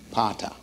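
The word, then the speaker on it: πατήρ: father is the word PA ter pronounce it pata pata you got me say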